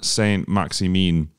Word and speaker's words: Saint-Maximin: Alan Saint-Maximin. We were at the game. Is that how you say it? That's how he says it.